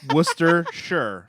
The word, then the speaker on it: Worcestershire: h u r that's that's how it is Worcester sure Worcester it's so funny you wanted me to you want to do sauce phonetically s-a-w ha yeah it'd be soft with